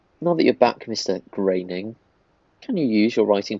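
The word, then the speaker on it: Groening: of others relax Mr Greening you still have created by credit it's graining Matt graining correct the pronunciation of his name I'm happy to give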